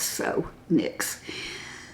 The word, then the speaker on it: NYX: But this is NYX NYX, but it's pronounced NYX like and it they actually say like N I C Ks. So, NYX.